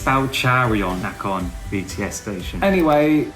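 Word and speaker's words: เจริญนคร: It's next to Jarion Nacon BTS station. It's Charion Nacon BTS station.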